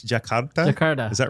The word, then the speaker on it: Jakarta: and i you you taught me how to pronounce it and i already have it's jackhammer jakarta is that right yeah jakarta so is is that the largest cities the